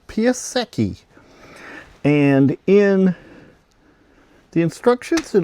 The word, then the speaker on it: Piasecki: So this is my second Random Weirdness for the group build, and it's a, I have to say it right, Piasecki.